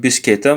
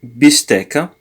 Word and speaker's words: bistecca: Bistecca, sorry, not bischetta, but bistecca.